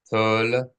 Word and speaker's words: Toledoth: TOLEDOTH. The shwa here is a sounded shwa.